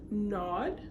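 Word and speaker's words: Nodde: Now, here, honorable mention here will be the new handbag called, I believe it's pronounced Nod. It is spelled N-O-D-D-E, and they have some nice colors in here as well.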